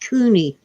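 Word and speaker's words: CUNY: at uh Colombia and I think it's pronounced Cooney see Sunni is State University New York Cooney is city with a c University of New York oh Jason is watching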